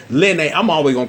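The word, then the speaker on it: Linne: I think who I've learned how to pronounce this name correctly, Lene. I'm always gonna call her Lynn, but it's pronounced Lene.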